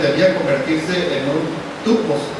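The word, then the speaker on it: τύπος: pureza la palabra ejemplo es una palabra griega que se pronuncia tupos que significa modelo imagen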